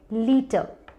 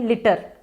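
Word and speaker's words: litre: Word मेरे पास है लीटर, लीटर। अब हिंदी में या नॉर्मल चलती फिरती लैंग्वेज में हम इसे कहते हैं लिटर। अब ये लिटर नहीं है, इसका करेक्ट प्रोनाउंसिएशन है लीटर, लीटर।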